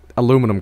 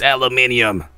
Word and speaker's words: aluminum: Or, like, you know, Aluminum Cop. I know some of you will go away if you're like, it's aluminium!